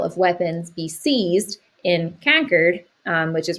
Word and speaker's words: Concord: She was actually from the city of Concord, and she made it very known that they pronounce it Concord. So we're going to say Concord instead of Concord.